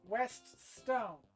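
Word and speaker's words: Westone: that made these games, apparently it's West Stone. Which is apparently the combination of what the English names of the company's founders' names would be, last names specifically.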